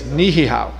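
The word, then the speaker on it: Niʻihau: all the way to the farthest left is nihihau properly pronounced by the way that is one of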